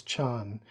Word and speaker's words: Zen: B basically uh the the term Zen in Japanese is as I understand it just the the Japanese way of pronouncing the same characters as as as Chan um and I think